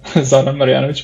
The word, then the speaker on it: Zoran Marjanovic: So, as you said, Zoran Marjanovic, well pronounced.